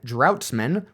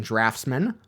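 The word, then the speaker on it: draughtsman: 14 I was saying droughts men rather than draftsman my bad the spelling mixed me up but I guess it makes sense if you think about the spelling of draft beer I also mispronounced Dr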